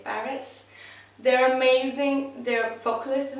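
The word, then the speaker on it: PVRIS: I think it's Parrots, like the A is upside down. Basically it's P-V-R-I-S, but people I think say Parrots.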